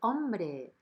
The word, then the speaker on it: hombre: Hombre, Arturito. ¿Qué tal has dormido? Bien. He says, hombre, hey man. Remember that the H doesn't have any sound in Spanish. So we say hombre.